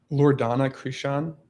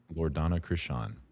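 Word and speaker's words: Loredana Crisan: Loredana Krishan. Loredana Krishan.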